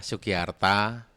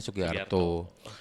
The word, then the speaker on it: Sugiarta: Ya saya ya Sugiarta karena memang saya orang Jawa itu kan huruf terbacanya O tapi sebenarnya hurufnya A itu. Akhirnya kadang-kadang saya suka guyon. Kayak kalau di Jogja ya namanya Sugiarto. Kalau di Jakarta ya Sugiarta. Di Bandung Sugiarta.